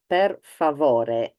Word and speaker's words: per: the bill per uh make sure also you do pronounce this in Italian not in Spanish as I hear many times per that is Italian um I'm not going